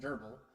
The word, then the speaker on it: grbl: this video I'll be covering grbl pronounced Geral to be used along